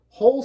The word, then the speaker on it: whole: Even though this is spelled a little bit differently with a WH, whole sounds like physically you would dig a hole.